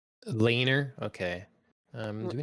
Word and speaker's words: Laenor: Laner? Laner. Okay. Do we not have it Yeah. on our list? How do you spell that?